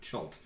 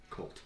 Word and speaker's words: Chult: up any information online a lot of people pronounce it chult which is stupid it says in the book Colt see I thought it